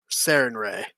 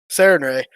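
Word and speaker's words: Sarenrae: I'm pronouncing that right? Serena. I know it. I know it. All right. Yeah. Sarinre. That's it. Sarinre.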